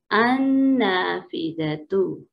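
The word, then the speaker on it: النافذة: So I have told you that sometimes alif lam is written, but we will not speak it. This lam is silent here. So directly there is a tashdeed. You will say hamza zabar noon an. Okay, annafizatu.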